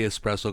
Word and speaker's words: espresso: There's no X at all. No. It's like ES. It's like double S.